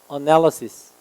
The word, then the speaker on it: analysis: 얘는 동사가 analyze지만 얘는 analysis입니다. analysis.